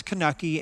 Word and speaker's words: Kanuchi: And I know there's different pronunciations, so don't write in on that one. We know there are different pronunciations, but to him it's Kanuchi and Kanuchi is often